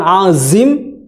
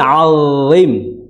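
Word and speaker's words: عظيم: Jadi bukan z, ya, beda. Bukan azim tapi alim, ya, alim. Jadi tidak ada suara desisan suara, itu enggak ada.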